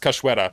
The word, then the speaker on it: Cachoeira: So this is pronounced Cachoeira, by the way.